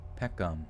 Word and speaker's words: Peckham: Pronounce Peckham. Peckham. Oh yeah, that's exactly it. 2 syllables. Peckham.